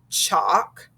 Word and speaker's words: chalk: that silent l and silent l follows vowels a o and u and when that happens the l is silent so we have words like calf salmon chalk and yolk do you hear how we never heard the l sounds in those and when we check